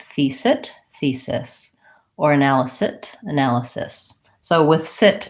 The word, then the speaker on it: analysis: and then changed fils it thesis or analysis analysis so with sit it's not a real word